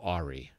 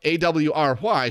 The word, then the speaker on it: awry: and men often go ahri because in my mind a w r y should have pronounced been pronounced ahri of course the word is awry but i didn't know